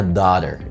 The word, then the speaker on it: daughter: بالامريكان انجلش بنقول عليها daughter، ايه اللي بالتي دي خفيفه كده، daughter. واتفرج على الفيديو بتاعي لما اتكلمت فيه عن حرف التي في الامريكان انجلش ونطقه daughter، وممكن نقولها في البريطاني daughter، daughter.